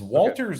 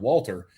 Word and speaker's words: Walter: the English way of Walter. Yeah. The way that he pronounces it, the way it's been pronounced is Walter, like with a V, like a V and a W.